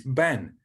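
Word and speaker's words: בֵּן: The first bit of Benjamin is Ben, meaning son. So Ben is how you pronounce that word.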